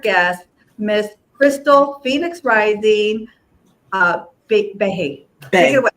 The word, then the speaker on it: Bay: And without further ado, please welcome my honored guest, Miss Crystal Phoenix Rising Bay. Bay. It's actually pronounced Bay, like B-A-Y.